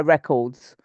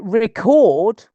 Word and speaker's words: record: when I was younger I used to buy records and then I or I used to record from the radio before before computers we bought